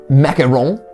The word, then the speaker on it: macaron: Historically, desserts around tea tend to be like macaron. Like there's some tea infused like macaron. Not to be confused with macaroons, which are the coconut cookies.